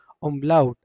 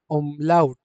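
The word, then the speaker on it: Umlaut: German में हम लोग हमेशा उमलाउड क्या प्रोनाउंस करेंगे आप इसको? ओमलाउट। हमेशा ध्यान दें आप लोगों को इस वर्ड को हमेशा क्या प्रोनाउंस करना है एवरीवन? ओमलाउट।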